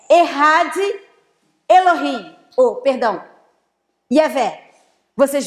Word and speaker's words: Echad: A palavra único é a palavra Echad, se escreve Echad, mas se fala Echad.